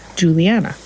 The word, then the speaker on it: Juliana: trying to get back to using my name Juliana Juliana so on the regular people oh Juliana how do you spell that j u l i a n a